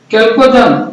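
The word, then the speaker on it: chalcogen: हेलोजन, कैल्कोजन, संक्रमण तत्व, उत्कृष्ट गैस। नहीं, हमारा क्या होगा? यही चाल्कोजन, या CH का उच्चारण चौ नहीं होकर के कौ भी होता है, जैसे मोनार्क।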